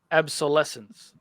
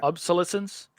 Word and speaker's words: obsolescence: yep right or seven some of that right right Rob so it's called the planned absolescence obsolescence obsolescence obviously yeah it's kind of hard for me to pronounce yeah obsolescence oh yeah that's right that's correct describes